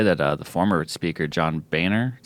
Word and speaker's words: Boehner: I saw today that the former speaker, John Boehner, is how you say it, is Yeah.